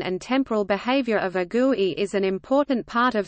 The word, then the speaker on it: GUI: The visible graphical interface features of an application are sometimes referred to as CHROME or GUI, pronounced GUI.